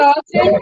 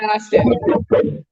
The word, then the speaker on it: Astin: His name's Sean. Austin might be right, though. No, it is right. I said it wrong. Sean Astin.